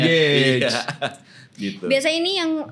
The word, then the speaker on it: N-Gage: Nah, N-Gag gak tuh bacanya? N-Gage.